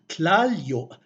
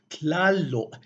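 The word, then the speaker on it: Tlāloc: So what would have been pronounced Tlāllò because of those linguistic phonological rules became pronounced as Tlālò instead.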